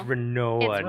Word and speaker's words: Rinoa: decided that's gonna be the episode title it's rinoa normal I say that because her name was